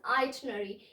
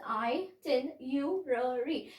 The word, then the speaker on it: itinerary: itinerary, but people mispronounce it as itinerary. Even I used to mispronounce this word as itinerary. I used to skip this R and A, but the correct pronunciation to this word is itinerary.